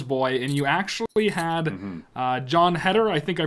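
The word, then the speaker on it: Jon Heder: film called Mama's Boy, and you actually had John Heder, I think I pronounced it right. My pronunciation's That's right, yeah. John Heder as kind of one of the main roles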